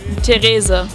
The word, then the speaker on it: Teresa: your name but that's not the way you pronounce it in Germany no what is it what is the way Teresa Teresa nice and yeah what is the thing